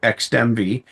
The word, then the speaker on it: Xdemvy: We pronounce it Xdemvy. XDMV. XDEMVY. VY, in XMV.